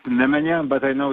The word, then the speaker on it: Nemanja: It's Nemanja, but I know it's very difficult to pronounce.